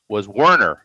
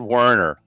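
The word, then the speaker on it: Wernher: And also he said his name was Werner. He just said Werner.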